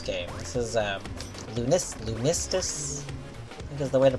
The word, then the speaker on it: Lunistice: uh this this game this is um Lunas lunistus because the way to pronounce it ah the majority of the game